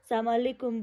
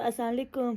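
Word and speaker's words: السلام عليكم: और कुछ जो यंगस्टर्स लोग होते हैं वो तो अस्सलामुअलैकुम सलामुअलैकुम ले, तो इस तरह के प्रोनाउंसिएशन होते हैं जो कि गलत है। सो the actual pronunciation is अस्सलामु अलैकुम या सलामुन अलैकुम। अब एक और चीज़ इसमें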